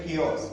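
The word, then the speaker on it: chaos: इसकी प्रोनाउंसिएशन होती है कियोस। देखने में कियोस लग रहा है बट इसकी प्रोनाउंसिएशन है कियोस।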